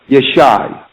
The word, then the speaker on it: Yeshai: Jesse in the Hebrew is Yeshai. Okay. Yeshaya. Oh. But the difference is spelled Y-A-S-A-Y.